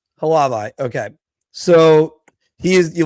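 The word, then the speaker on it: Hlavaj: How do you pronounce the goalie's name? Samuel Halavai. Halavai.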